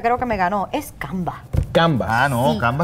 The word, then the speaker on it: Canva: ¿Cómo se escribe Canva? ¿Qué hace Canva? Ok, es C-A-N-V-A. Muy bien. No se dice con la S, pero no sé por qué le decimos Canva? Canvas.